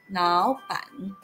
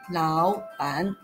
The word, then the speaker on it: 老板: The tone of the first character, lao, changes to the second tone, and the whole word is pronounced as 老板, but not 老板.